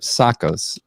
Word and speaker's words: Tsakos: And I want to make sure I pronounce it right, because Tsakos is the way that you pronounce this. It has a T at the beginning of his name, but we're going to be highlighting, his service to our community.